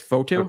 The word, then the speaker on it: Fotu: It's Fotu. Okay. Lecky Fatu.